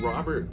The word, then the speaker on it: Robert: And when Robert, his T is silent, when he's not in his restaurants, he's sweating it out in the kitchen or greeting people at the front door.